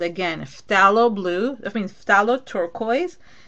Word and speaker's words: phthalo: It's called, again, phthalo blue. I mean phthalo turquoise. Phthalo is P-H-T-H-A-L, like basically it's like halo at the end. So it's P-H and then T like Tom, T-H, and then A-L-O. Phthalo.